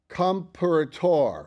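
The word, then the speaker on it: Comperatore: and you have to forgive me for the pronunciation I I want I want it to be right it's comparator coom m p e r a t o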